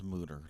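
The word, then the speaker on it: Mütter: It says moo, pronounced moo, like a cow, and then dash TER.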